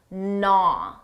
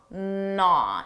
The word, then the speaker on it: gnaw: First of all, notice that silent G naw naw, it starts with a an N sound.